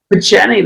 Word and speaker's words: Picheny: How do you pronounce that? Picheny? Picheny, that's right.